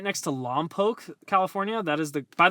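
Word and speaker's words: Lompoc: exact number but Vandenburg is right next to Loke California that is the by the way that's how you pronounce it it's not lak it's Loke okay I met the mayor actually it's Loke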